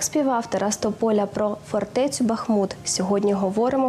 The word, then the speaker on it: Бахмут: таке Тож як правильно Бахмут чи Бах правильно однозначно Бахмут наголос на і назва міста вона походить від назви річки для нас дуже символічною